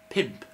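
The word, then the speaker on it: pump: Number 5, pimp. Yep, you heard me right.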